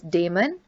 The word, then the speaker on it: Damon: pronounced syracuse or syracuse this word is demon and this one is